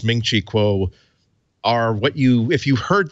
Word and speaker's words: Ming-Chi Kuo: That is the three syllables Ming-Chi Kuo are what if you